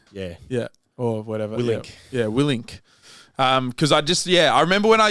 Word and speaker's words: Willink: I called him Willinick once, and someone told me off.